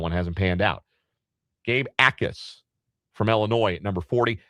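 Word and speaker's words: Jacas: Gabe Ais from Illinois. It's J A C. It is not Jackis or anything that sounds like that. You don't pronounce the J. It is Gabe Ais.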